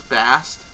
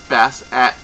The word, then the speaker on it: Bastet: Or if I'm missaying it, like, a lot of people just call the cat goddess Bast, when actually it's Bastet, as Phoenix Rainbow will corrected me on that.